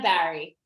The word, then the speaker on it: Bahri: sure i found out about yes it's barry very okay awesome nice to have you here